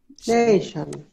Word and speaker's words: nation: Nation.